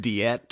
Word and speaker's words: Diet: They're like, surely it's pronounced diet or something, and I was like, no, it really is just like the word you know and love, diet.